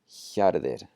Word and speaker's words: hjarðir: So whenever you see the HJ, it's going to be a yeah, yeah, yeah sound. As in this word, hjarðir, hjarðir, and hjá, hjá. That's the voiceless J.